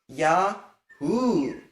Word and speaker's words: Yahu: There's a Hey in between. You pronounce that Hey. Yahu.